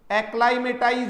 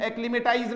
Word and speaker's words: acclimatize: ACCLIMATIZE, एक्लाइमेटाइज होगा इसका pronunciation, एक्लिमेटाइज नहीं है। प्रोनाउंसिएशन सुन लेना प्यारे बच्चों, एक्लाइमेटाइज।